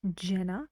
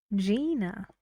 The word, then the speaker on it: Gina: about the girl's name it's not Jenna it's Gina Kim we've got these three